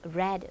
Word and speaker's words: read: 이는요 p 형태가이 아니에요 read read R 스펠링은 똑같지만 발음만 다릅니다 암기해야 돼요 어 이제부터는